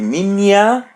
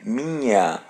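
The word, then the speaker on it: minha: So the letter N is pronounced as a light N. So don't say Ma, say Mia. And the letter H is pronounced as Y. Mia.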